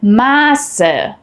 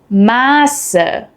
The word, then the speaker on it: Maße: While both are pronounced the same unvoiced S, they affect the vowel before them. A double S shortens the vowel and an SZ lengthens the vowel.